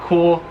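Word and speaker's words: Kuhl: If you see cool, that's K-U-H-L, not C-O-O-L or K-O-O-L, like some of us like to spell it.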